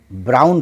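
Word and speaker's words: brown: ऑन लेकिन यहां बी आर O blue N ब्राउन पढ़ा जा रहा है तो ऑन अगर अकेला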